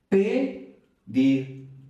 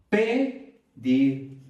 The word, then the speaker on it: pedir: Pedir, pedir. Esta elevación, esta fuerza, pedir, nos está indicando la sílaba tónica o el acento prosódico.